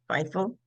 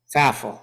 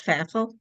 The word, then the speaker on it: Pfaffle: talking with with Davey fifel faf who likes faf remind reminds with rhymes with baffle faff okay because my other